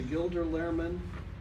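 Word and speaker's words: Gilder Lehrman: Not only does he teach history at Riverbluff High School, but in the past year, he's been named both the Gilder Lairman Am I pronouncing that right?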